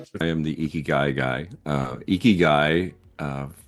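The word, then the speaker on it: ikigai: guy uh for you a easy way to remember to say it is e like a long e key like you're unlocking a door and guy like this guy eeky guy and if if you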